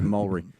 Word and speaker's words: Moultrie: tea is silent and it's not moultrie it's mullery uh he's here today